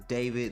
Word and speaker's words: D4VD: So, if you don't know what's going on, D4VD, otherwise known as David. That's his streaming name. Song name is D4VD. Pretty stupid, but he says you pronounce it as David.